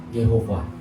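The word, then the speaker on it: Yahweh: belajar bahasa Ibrani Ya Tuhan itu yahwe y hwh tulisannya ya kalau kita ngomongnya Yehova ya Yehova Tetapi kalau orang Israel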